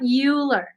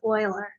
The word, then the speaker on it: Euler: is that Oilers name rhymes with oiler not ruler it's not Euler you don't say you